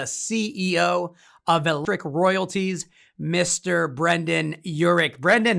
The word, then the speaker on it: Brendan Yurik: today is the ceo of electric royalties mr brendan urich brendan how are you i'm doing great thanks